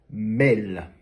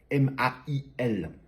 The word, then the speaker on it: mail: Les francophones, quand ils prononcent ce mot-là, ils disent mail, à tel point que parfois, il y en a même certains qui l'écrivent avec un M-E accent aigu L, qui reflète la façon française de prononcer ce mot-là.